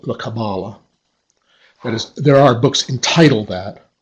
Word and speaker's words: Kabbalah: how to pronounce it well I say Kabbalah you've noticed that the word actually has three syllables and I have heard catalysts themselves pronounce the word with the accent on each of them Kabbalah Kabbalah Kabbalah but the standard pronunciation in the dictionary and most American use just to accent the second symbol Kabbalah as I'm doing don't be surprised if